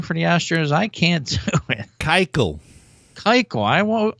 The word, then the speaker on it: Keuchel: Dallas how do you pronounce that last name for the Astros I can't Keuchel Keuchel I won't I always want to say ku tral but I think if Keuchel is the appropriate way of saying it and